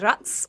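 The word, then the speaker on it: raqs: Rats or you can say it with a K, but is like oriental dance.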